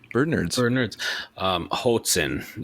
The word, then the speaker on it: Hoatzin: Hoatzin is how you pronounce that.